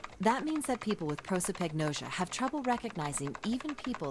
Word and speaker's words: prosopagnosia: There's the pronunciation, prosopagnosia.